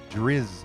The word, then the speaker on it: Drizzt: It's like Driz, like Jizz.